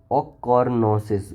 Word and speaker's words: ochronosis: So it is known as ochronosis. Wait a minute, let's hear how it is pronounced.